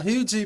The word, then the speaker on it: Huger: out to Hometown Hometown Hui baby you gotta say it you gotta say it like like your French French baby French baby Rico Canon